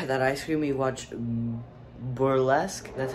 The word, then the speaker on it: Burlesque: After that ice cream, we watched Burlesque, that's how you say it.